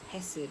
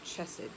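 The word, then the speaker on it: חסד: You know, loving kindness in the Hebrew, that word is hesed or chesed.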